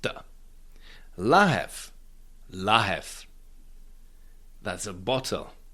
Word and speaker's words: lahev: it is pronounced the la that's a bottle. V becomes F because it's at the end of the word and rope that is